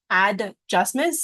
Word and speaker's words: adjustments: to spell because some sometimes we don't hear the D adjustments sometimes we just hear